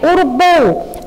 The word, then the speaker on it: urubu: Ó, a gente percebe que a nossa pronúncia mais forte é a sílaba bu, urubu, bu, urubu. Então, o bu é a mais forte, portanto, é a sílaba tônica da palavra urubu.